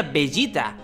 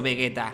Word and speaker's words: Vegeta: ball aquí estábamos bebé si queremos pronunciarlo como en japonés sería bellita pero en ningún caso vegueta su sombrero vegueta el